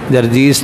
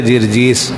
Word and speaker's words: جرجیس: ہے جی، جرجیس نہیں، جرجیس، جرجیس، اس کا صحیح تلفظ ہے جرجیس۔ اس کا لقب کیا تھا؟